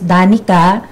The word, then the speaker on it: Dane: ko sor so ang Dane enterprise Dan po spelling is da so Napansin niyo kaya ang mention niyo kanina da pero we pronounced it as Dan galing po siya sa